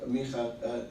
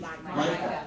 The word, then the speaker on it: Micah: Last night, very interesting, Rabbi Micha, how do you pronounce him in English? Micah. Sorry, you know, I've got this Hebrew problem all the time.